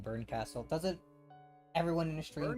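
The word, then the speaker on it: Bernkastel: it's supposed to be Bern Castell. That's the way I've always been pronouncing it. Burkenstelle because it's E L, not L E.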